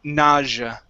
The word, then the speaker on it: nausea: So it's a j sound, nausea.